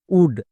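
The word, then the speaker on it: wood: ডব্লু ও আমি যদি দেখতে পাই তার জন্য ওয়া সাউন্ড করব, একদম উচ্চারণ ঠিক হবেই, বাট এর ক্ষেত্রে ব্যতিক্রম আছে। যেমন নিচের শব্দে দেখো ডব্লু ও আছে, এর জন্য কিন্তু ওয়া সাউন্ড হচ্ছে না, যেমন উলফ, উড, এই দুটো হচ্ছে ব্যতিক্রম।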